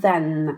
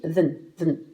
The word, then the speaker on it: than: Ce n'est pas that, hein, c'est bien than avec un N. Et dans une phrase, il se prononcera bien plus vite than.